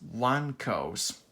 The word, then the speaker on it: Wanko's: And Winko's Warehouse is another one I like. It's pronounced Wanko's.